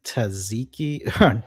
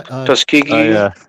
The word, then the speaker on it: Tuskegee: Uh I'm going to pronounce this wrong, but the Taziki, not Tziki, the Tus Tusky syphilis tri Tuskegee.